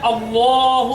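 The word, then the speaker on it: الله: এই দ্বিতীয় লাম সম্পর্কে তো আল্লাহ শব্দের দ্বিতীয় লামের আগে যদি জবর থাকে কিংবা পেশ থাকে তাহলে আল্লাহ শব্দের দ্বিতীয় লামের উচ্চারণটা হবে পোর অর্থাৎ মোটা করে অর্থাৎ এই দ্বিতীয় লামের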